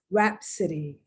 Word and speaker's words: rhapsody: to do something in my case to spell rhapsody rhapsody in blues mia rheem rheology these are